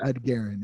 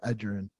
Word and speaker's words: Edgerrin: He called him Ed Guerin instead of Edgerrin.